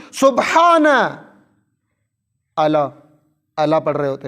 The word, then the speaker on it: سبحان: سبحان کہاں ہے؟ سبحان, درست تلفظ سبحان.